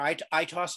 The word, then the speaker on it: aitos: weaver i work for itos io that's how you pronounce it today's presentation is called